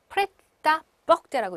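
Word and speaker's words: prêt-à-porter: 프레타 뻑제라고 읽어야 돼요.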